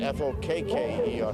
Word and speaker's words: Fokker: It's spelled F-O-K-K-E-R, Fokker.